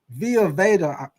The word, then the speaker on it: Vita Vea: But if Via Veda don't play, Via Veda, this is how you say his name, Via Veda.